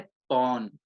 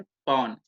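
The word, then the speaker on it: pawn: का दूसरा नाम है पॉन पी ए डब्ल्यू एन पन देखो उच्चारण जरा भी गलत हो जाए तो गड़बड़ हो सकती है तो द प्रोनंसिएशन इज पन ठीक है और इसको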